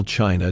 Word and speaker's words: Qin: The country we call China takes its English name, almost certainly, from this very word Qin, pronounced closer to Chin.